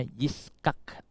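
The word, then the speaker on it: יצחק: Dalam bahasa Ibrani tulisannya Ishak seperti ini, saudara. Bacanya Yiskak. Tapi kemudian di dalam bahasa Indonesia jadi Ishak gitu ya.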